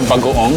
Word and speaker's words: bagoong: We call it bagoong, that's how you say it.